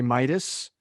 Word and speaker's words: Mietus: a business consultant today his name is larry midas larry am i pronouncing the name right i got it right